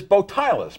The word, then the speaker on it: Botielus: His name is Bilus, pronounced like he is without his bow tie.